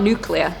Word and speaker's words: nuclear: wrong nuclear nuclear no no well no because it's spelt nuclear it's nuclear yeah but it's some muscular some